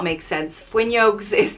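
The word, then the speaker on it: fhuinneog: means close the window it's pronounced fuen yog we use fun yoga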